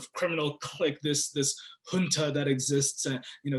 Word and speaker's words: junta: criminal click this this junta that exists and you know it's not junta it's junta but no government official apparently